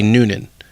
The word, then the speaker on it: Newnan: a nursing assistant in Newnan Health and Rehab she is spelled at Newman but it is not the sun-filled character it actually should be Noonan anyway we're talking about